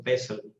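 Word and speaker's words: PESTEL: of nishia pastal analysis some people also pronounce it as L silent also pesel so the term pastel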